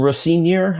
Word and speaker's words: Rosenior: It would have been um you know, we got it was the first game with uh Liam Rosenior, I think is how they pronounced it.